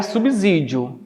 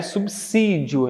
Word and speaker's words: subsídio: A pronúncia adequada aqui, a ortoepia aqui, não é subsídio, é subsídio, é como se fosse o som do C.